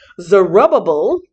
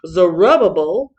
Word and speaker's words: Zerubbabel: about 60 years later zerubbabel yes that's how you pronounce it at least that's what my bible dictionary tells me zerubbabel the grandson of king